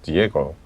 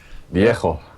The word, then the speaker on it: Dijego: It's Diego, as I'd like to pronounce it with a semi-Spanish slur. Semi-slur and okay. Diego.